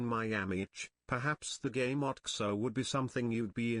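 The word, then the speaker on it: OTXO: If you're ever in the mood to fulfill that Hotline Miami itch, perhaps the game Oxo would be something you'd be interested. From what I've heard, it's pronounced like Ocho.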